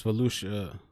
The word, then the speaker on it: Volusia: It was Volusia County.